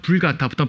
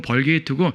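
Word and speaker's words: Vulgata: 라틴어 불가타부터 벌게이트라 그러죠. 영어식으로 읽으면 벌게이트고 라틴어 그대로 읽으면 불가타역이라 그래요. 불가타 성경. 우리는 가능하면 불가타, 그러니까 원래 발음으로 사용하려고 합니다.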